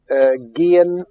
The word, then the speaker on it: gehen: Gehen, andar, hay una H muda entre la primera y la segunda sílaba.